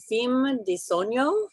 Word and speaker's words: Fim de Sonho: How about Fim de Sonho? Is that the correct pronunciation?